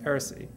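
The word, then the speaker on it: R&Sie(n): 09 from Madrid, Philippe Ram from Lausanne and Paris, and Aaron Saïd, it's in French it's pronounced Heresy, from Paris, who are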